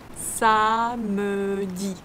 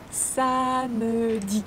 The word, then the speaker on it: samedi: Samedi. Samedi. Here we have, we can pronounce samedi because this E sound is E caduc. The E sound that can be omitted.